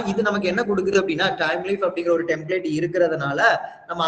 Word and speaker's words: Thymeleaf: அந்த டெம்ப்ளேட்டோட பேரு தான் டைம் லீஃப். என்ன பேரு? எஸ், டைம் லீஃப்னு சொல்லுவாங்க. சரி, அதை ப்ரொனவுன்ஸ் பண்றது டைம், டிபெண்டன்சி தான்.